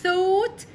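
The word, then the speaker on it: thought: ث ينك الماضي منها ووت الجي مع الاتش ده ما بنطق الجي والاتش الحرفين دول ما بنطق هش خلي بالنا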